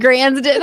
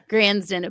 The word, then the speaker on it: Gransden: Granddon, I'm sorry. I wrote it down phonetically and I just blanked. Granddon. Granston is here with us today.